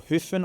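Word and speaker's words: Höfn: And that was the Hoffen area or Huen I think it's pronounced.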